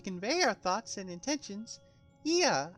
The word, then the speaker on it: Ea: Ia, I believe, was the pronunciation when used with referring to our people.